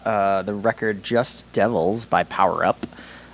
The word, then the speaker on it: PWRUP: Unfortunately, I didn't get to see these guys, but I brought the record Just Devils by Power Up. It is spelled PWRUP. Stylized PWRUP.